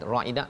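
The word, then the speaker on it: رَاعِنَا: Jadi kalau bacanya panjang, ra aina 2 harakat, dia jadi maksud lain. Maksud ra'ina itu maksudnya perhatikan kami ya. Tapi bila dipanjangkan sikit, dia jadi apa? Penggembala kami. Penggembala, daripada perkataan ra'in, kullukum ra'in, setiap kamu adalah pemimpin ya.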